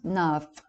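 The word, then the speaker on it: naomh: b making it pronounced the other form of for either of these two words is num the dot making it numb pronounced nav the dot over the letter m in this word gives it the value of the b h which is equivalent to the english letter v thus giving the word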